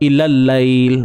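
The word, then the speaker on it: إِلَى اللَّيْلِ: Tapi apa-apa pun bacanya tetap ilal lail, itu sahaja. Usah pening-pening, ya. Boleh? Atau itu je lah. Habis dah, tak ada cerita apa. So jawapannya alif lam syamsiah.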